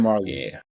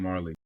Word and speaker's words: Majerle: Dan Marley. Yeah, Dan Marley.